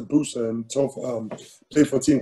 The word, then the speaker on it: Bursa: was in a town called bursa they pronounced the booster and played for a